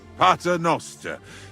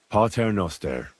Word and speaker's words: Pater Noster: You're saying it wrong. Listen. It goes like this. Pater Noster, qui es in caelis, sanctificator nomen tuum.